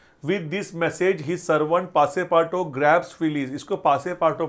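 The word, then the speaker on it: Passepartout: this message his servant पासे पाटो grabs Phillies इसको पासे पाटो पढ़ना है इसको पासे पाट आउट नहीं पढ़ना है यह जो है ना यह यूटी साइलेंट है पासे पाटो पासे पाटो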